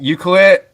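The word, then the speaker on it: Ucluelet: couldn't pronounce it yeah I have trouble pronouncing it sometimes uh you clue it some people call it Euclid um but for short everyone just says Yuki yeah okay and is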